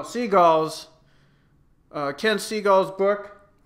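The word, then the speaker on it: Segall: biography that Ken uh skulla is that how you say his name no seagulls uh Ken seagull's book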